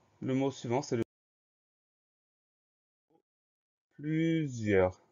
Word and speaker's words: plusieurs: Première syllabe, plus, P-L-U. Deuxième syllabe, zieur. Le son Z va s'écrire avec un S puisqu'il est entouré de deux voyelles. Ensuite, plusieurs, on va avoir le I, le E-U, et on finit avec R-S.